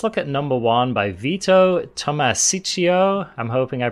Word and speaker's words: Vito: at number one by vito tomasicio i'm hoping i pronounced that properly i'm sure you did it's veto don't worry about it yeah veto hey it's veto all right so so